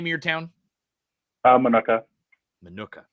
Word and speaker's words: Minooka: How do you pronounce the name of your town? Minooka. Minooka.